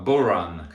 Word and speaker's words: bodhrán: Et si on veut être précis, on pourra le prononcer à la mode gaélique, à savoir bodhran.